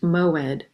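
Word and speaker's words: מועד: It's pronounced moed.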